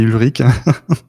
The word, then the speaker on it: Ulrich: Je vous demande d'accueillir Ulrich. Ulrich, comment on prononce? Comme ça, dès le départ, je ne me trompe pas. Du coup, tu t'es trompé, on dit Ulrich.